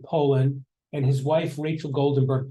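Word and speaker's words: Polin: This is John, I think you pronounce the name Poland, and his wife, Rachel Goldenberg Poland.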